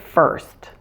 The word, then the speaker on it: first: at the beginning with first now the IR is pronounced a just as if it were spelled ER to pronounce the earth sound